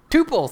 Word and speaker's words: tuple: or tuples tuples tuples how do you say what is the right way to say this T please hey I did it all right tupal that's the way to say it if you're familiar with